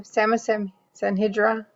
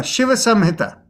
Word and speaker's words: Shiva Samhita: Samasanhidra? No, Shiva Samhita.